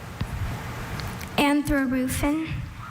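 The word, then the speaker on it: anthrarufin: Anthroofen.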